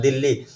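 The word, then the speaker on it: Dili: दिल्ली। हम इसे D-e-l-h-i लिखते हैं। हम दिल्ली लिखते हैं। यह दिल्ली है। हम इसे दिली पढ़ेंगे। हम इसे किस रूप में समझेंगे? दिली। दिल्ली, दिली। उच्चारण में थोड़ा अंतर है।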